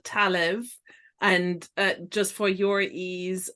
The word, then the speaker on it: Talamh: This shawl is called Talev, and just for your ease, and it's Talamh, because Irish names aren't necessarily spelled the way they're pronounced from with an English mind anyway.